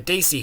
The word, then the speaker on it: Desi: and he was managing the desi hit squad or pronounced properly the desi hit squad now of